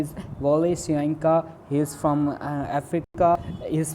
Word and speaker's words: Wole Soyinka: Known as Wole Soyinka, is pronounced Wole Soyinka, is a Nigerian playwright.